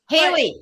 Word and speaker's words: Hallie: I'm not I think I've been pronouncing your name wrong because I've been saying but it's actually is it Halle it's Haley Haley oh I I am